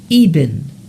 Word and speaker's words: Eben: It sounds like it's pronounced Eben.